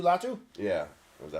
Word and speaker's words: Latu: out of UCLA I went to loua oh latu latu yeah was that how you say it yeah